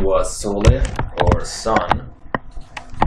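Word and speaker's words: Sól: Same name, but spelled slightly differently, is found in the Norse religion, Sol, S-O-L. And with the line on the O, meaning that it's more closed, the way it's pronounced.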